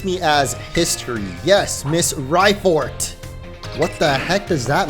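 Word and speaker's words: Raifort: as history yes Miss rifort what the heck does that mean Rye like ride on but no it's spelled Rye r-a-i like ryko maybe yo is that Professor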